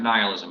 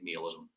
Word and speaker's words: nihilism: All right, you can pronounce it nihilism as well. Since I studied some Latin, I'm not very good at it, but I think Neilism is a perfectly fine way of saying it.